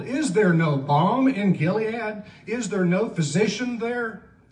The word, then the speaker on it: Gilead: By the way, it's actually pronounced Gilead, but that's not how we say it or sing it, so it's Gilead, right?